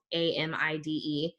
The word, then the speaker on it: amide: MS I said that there's another thing called am IDE and it's pronounced amide that's what's happening here so an